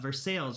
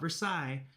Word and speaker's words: Versailles: I made sure to look it up, Versailles, right? Not Versailles. Even though it's spelled like Versailles. I think in Kentucky they call it Versailles.